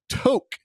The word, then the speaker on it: Tok: We're talking about Tok, T-O-K, not talk like TikTok. It's spelled the same.